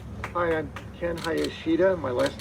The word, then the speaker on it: Hayashida: the community advisory board hi i'm ken hayashida my last name is spelled h-a-y-a-s-h-i-d-a i want to thank the elected